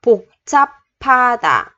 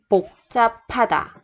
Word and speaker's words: 복잡하다: Thì chỗ chữ hờ này mình đọc là chữ p, p. 복잡하다.